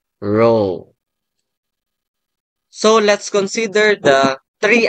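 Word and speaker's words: rho: So in this particular statistical tool this is used okay R subs or the Greek letter which is pronounced as row.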